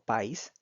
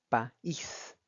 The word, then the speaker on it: país: Como pueden observar, la palabra país tiene la vocal A y la vocal I juntas, que em, haciendo uso de la información que tenemos de los diptongos, básicamente indicaría que tuviéramos que pronunciarlo como país, pero al ser un hiato se pronuncia país en dos sílabas distintas.